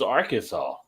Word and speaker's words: Arkansas: this is our Kansas no this is Arkansas but it's spelled like Kansas on the thing yeah Arkansas yeah right our Kansas that's how it's spelled damn it Arkansas nobody